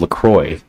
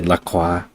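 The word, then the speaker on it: LaCroix: I thought it was Lacroy. I think that's probably the right way. I don't know why. I I like to say Laqua.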